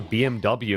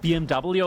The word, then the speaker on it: BMW: BMW or BMW? Because in German with the alphabet, it's not pronounced W, it's V.